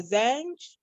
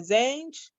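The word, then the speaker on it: Zanj: bantus called uh belief is pronounced as a zenge or zange uh z-a-n-j and they were from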